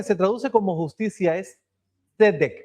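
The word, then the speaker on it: צדק: La justicia, la palabra que se traduce como justicia es tzedek. Es un poquito difícil de decir porque hay como una T por ahí.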